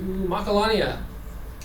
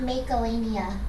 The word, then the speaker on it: Macalania: and we're off to Macalania this is it's not Melania or Mak it's Macalania a I got school by